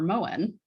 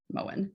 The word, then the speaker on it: Moen: But for example, the shower manufacturer Moen, that's how you pronounce it, right? Moen, the M-O-E-N.